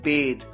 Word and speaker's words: bathe: देखिए, नहाने के लिए यूं तो हम बाथ कहते हैं, लेकिन बाथ जो वर्ड है BATH, ये एक नाउन होता है। जैसे मान लीजिए मैं कहूं कि आई am taking a बाथ, मैं ले रहा हूं बाथ। यहां पर बाथ एक नाउन है और यहां पर नहाने के लिए एक वर्ब का भी यूज किया जाता है और वो है बेद, BATHE, और इसकी फॉर्म्स होती हैं बेथ्ड, बेथ्ड, बेदिंग।